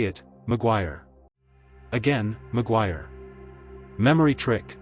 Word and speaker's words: Maguire: A common pronunciation is Maguire like wire with a gw start. Maguire. Say it. Maguire again.